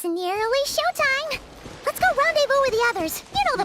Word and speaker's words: rendezvous: Rendezvous. I would do, so Ron, R-O-N, Ron Day, D-A-Y, Vu, V-U.